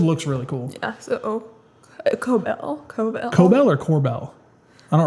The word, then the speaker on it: Cobel: It's Cobell.